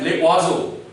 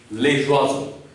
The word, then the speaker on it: les oiseaux: were reading it as le oiseau, which is wrong. But after knowing this rule, you have corrected your mistake. So this is wrong and this is correct pronunciation, les oiseaux.